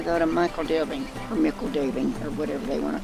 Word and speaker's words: Michel Delving: it I call it Michael daily but I think the hobbits here I think they're pronouncing it Mikkel or something similar to that but I call it Michel delving or saying that's just